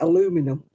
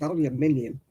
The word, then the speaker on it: aluminium: Oh, yeah, aluminum. What is that? It's aluminium. Why do they leave bits out of it?